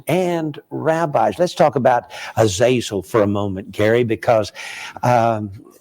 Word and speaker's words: Azazel: one of the fallen angels was called Azazel or Azazel it would be pronounced in the Hebrew and from the Book